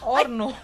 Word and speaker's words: horno: tayong matakot sa mga horno ng buhay natin huwag mawalan ng loob Oo Hwag mawalan ng loob no talagang Kapampangan nito horno orno orno ba o horno horno Pero in espanol kasi silent h ' ba a Gan